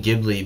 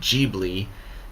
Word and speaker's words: Ghibli: So after the Studio Ghibli, or Ghibli Museum, I keep saying Ghibli because they spell it Ghi, and in Japanese, when you want to say G instead of Gi, you do Ji.